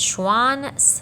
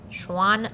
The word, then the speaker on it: Schwann: so theodore schwann and schwann rhymes with swan and a swan is an animal so that's how i keep that one straight schwann swan animals all right uh so